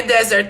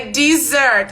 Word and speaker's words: dessert: Não é desert, tá vendo? É dessert.